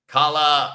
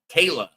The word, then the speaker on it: Kayla: Kala rhymes. Oh, Kayla rhymes with Layla.